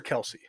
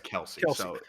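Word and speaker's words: Kelce: it the travis kels is it kels or kelsey he says it's kels everybody else says kelsey i've been pronouncing it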